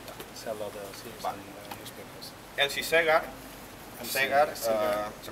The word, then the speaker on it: Segar: Elsie Segar se pronuncia igual que Segar, por eso siempre firmaba con un puro.